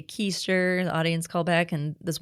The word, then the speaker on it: Kuster: I I will say my name's keister and then I do this one like derriere joke and I was like you're sitting down on your and they're they're supposed to say keister the audience callback and